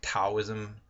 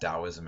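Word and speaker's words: Taoism: come is called dosm the old system from Chinese to English used to put a t for a D sound so sometimes you'll see it read wrote looking like taism but it was always pronounced dosm and now they at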